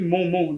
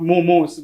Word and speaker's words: momo: So, the thing is, we say it momo, not momos. It's not like pure. We don't say it like in the plural form. Okay. It's Momo. singular. Yeah. Not momos. No momos, bro.